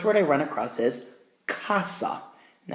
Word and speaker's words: casa: I run across is Casa and that's a hard C sound so I'm just going